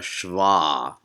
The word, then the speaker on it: Shewa: Sometimes in Hebrew text, such as in your handout, it's called a Shewa. And sometimes it's called Shewa, so where the W makes a V sound, so kind of a Germanic pronunciation.